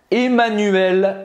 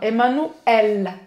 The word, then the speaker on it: Emmanuel: femmes aux audois toile président français comment est emmanuel macron emmanuel macron presta à pibrac a ajouté